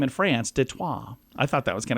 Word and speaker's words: Détroit: It comes from Detroit, Michigan. You know, Detroit is the way it's said in the United States. You know how Detroit is pronounced in France? And Détroit. Détroit, which is the Détroit.